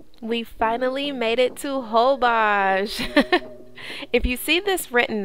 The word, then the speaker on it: Holbox: so we finally made it to hobash if you see this written out it's actually going to look like whole box but it's pronounced holbox now this island is located north of mexico's